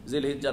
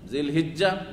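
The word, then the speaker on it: ذو الحجة: জিলহিজ্জা, জিলহাজ্জা, হাজ্জুন, হিজ্জুন, দুই রকমই যেহেতু আরবিতে উচ্চারণ আছে, কোরআনে কি রয়েছে? হিজ্জুল বাইত, আর আমরা হজ বলি, হাজ, জি, হাজ হিজ দুটাই শুদ্ধ।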